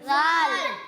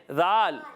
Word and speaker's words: ذال: زال۔ ذال نہیں، اس کا درست تلفظ ہے ذال۔ پیارے بچوں یہ ذال